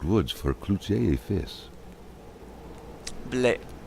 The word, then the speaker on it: Blais: Blais. It's pronounced, not Blaze.